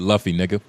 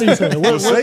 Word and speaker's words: Luffy: that's not how anybody says luy say Luffy it's l u f it's Luffy you a fake fan man